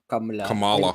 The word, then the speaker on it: Kamala: it harsh as way kamla I'm trying to pronounce it correctly okay I'm sorry Kamala kamot yeah kamot kamot Hindu Hillary God cackles